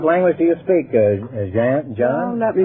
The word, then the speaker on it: Jan: John? Let me How do you pronounce that, Jan? Jan, that's right.